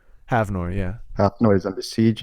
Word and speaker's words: Havnor: I butchered the name. Havnor, yeah.